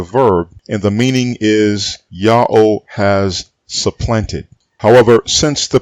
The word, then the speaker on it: Ya'oh: before the greek period it would be absurd to say that the pronunciation yahoo is greek it is not greek listen to me carefully his name is yahoo always was always will be so what of the